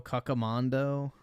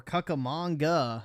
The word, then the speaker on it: Cucamonga: Has anyone heard of Rancho Cucamondo? Or Cucamonga, not Mondo, manga. Cucamonga.